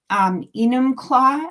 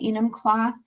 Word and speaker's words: Enumclaw: It's at 2:00 in Enumclaw, I think is how you say it, Enumclaw, Washington.